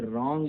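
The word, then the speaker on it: wrong: रॉन्ग में भी W silent है, RONG रॉन्ग हो सकता था, W लगा दिया, रॉन्ग में गलत हो गया, ठीक है।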